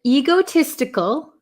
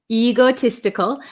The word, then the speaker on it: egotistical: selfish reasons okay and egotistical egotistical um I have a lot of students in Japan that say ego egotistical um it's a long e sound e egotistical egotistical